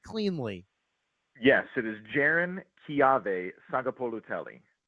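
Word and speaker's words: Jaron-Keawe Sagapolutele: Uh but but can you go can you give us the Cal quarterback pronunciation cleanly? Yes, it is Jiren Ki Saga Poloelli.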